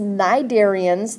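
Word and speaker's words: cnidarians: percent are the sponges naidarians that c is silent in cydarians right here i just you can't see it anymore but the c is silent ekinoderms and then other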